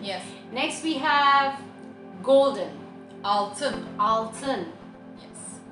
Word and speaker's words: altın: For pronunciation. Yes. Next we have golden. Altın. Yes. Altın.